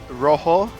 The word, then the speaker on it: rojo: I know that rojo, it's spelled rojo, but yes. you don't say jo, you say ho.